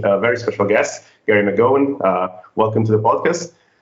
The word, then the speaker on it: McGowan: that was pretty good it's a bit more like mcgowan but uh you said